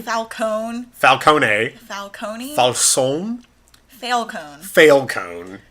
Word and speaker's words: Falcone: It's either Ben Falcone. Falcone. Falcone. Falcone. Falcone. Falcone. Falcone. Ben Falcone. It's Falcone. It's Falcone. It's Falcone. It's not Falcone. Ben Falcon. It's his superhero name.